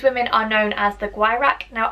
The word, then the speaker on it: Gwyrach: are known as the Gwyrach. Now, I have no idea if I'm saying that right. It's spelled G-W-Y-R-A-C-H, so pronounce that as you will.